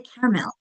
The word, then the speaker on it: caramel: In caramel, there technically is three syllables, but we usually say caramel. We skip that middle syllable.